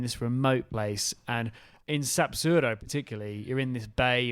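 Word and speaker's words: Sapzurro: to an even more special beautiful place called sapuro I think I've got that one right yeah you have but let's spell it anyway it's s a p z u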